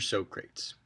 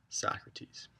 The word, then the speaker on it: Socrates: to our first philosopher mr. sokrates it's not how you pronounce his name Socrates and some of you